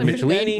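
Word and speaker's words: Michelinie: I don't know how you're supposed to pronounce it, but David Michelini. Michelini is how you say his name.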